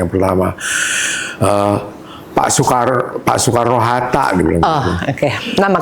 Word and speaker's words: Soekarno: Saya saya bilang enggak itu bacanya Soekarno mesti nulisnya su.